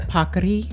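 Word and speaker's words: paccheri: Pakri.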